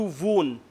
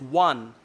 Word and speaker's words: won: Then you said how to wound. The pronunciation is one. WON is pronounced as one.